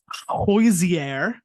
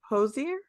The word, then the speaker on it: Hozier: uh next up on the pop culture pop-up hoisier uh Jose how do you say it who's here who's there Hozier Hozier who's you let's say it again well